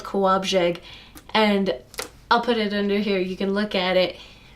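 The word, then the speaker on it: Kołobrzeg: My favorite city in the world is called Kowabzeg, and I'll put it under here. You can look at it. I guarantee you that you looking at it, unless you're Polish, would not have said Kowabzeg, not in a million years.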